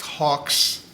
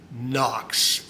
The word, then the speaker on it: HOKC: And I have since learned that this is not pronounced Hawks. It is pronounced I don't know if you can see that on there. Knox, N O Ks.